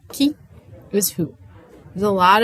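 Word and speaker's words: qui: All right, it's pronounced key like you unlock the door. Key is who.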